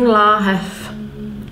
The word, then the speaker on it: láhev: Here it's written láhev with a V, but I'm saying láhev.